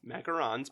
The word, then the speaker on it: macaron: Macarons, but I think that in French, you pronounce it macaron.